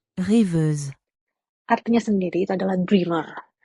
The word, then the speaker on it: Rêveuse: Reviews ini diambil dari bahasa French. Ini aku attach cara bacanya karena aku takut salah baca. Rêveuse.